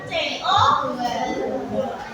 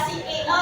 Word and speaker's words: CO2: O2 O2 O2 adalah terus mengeluarkan apa kan dia memasukkan nah sida itu mengeluarkan karbon dioksida karbon dioksida dibatanya dari CO2 CO2 enggak sio ya nah Nah, nah